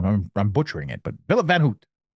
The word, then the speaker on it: Filip Van Houte: I don't know, I'm butchering it, but Filip Van Houte. Just pronounce it like people know it, like it's written like the last name of Milhouse, and they say like Van Houten or Houten in The Simpsons.